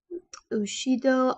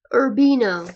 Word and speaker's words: Urbino: husband the doctor um ushido I think is how you say his name I'm sorry if I said that wrong um and basically urbino not oshido sorry um and basically it's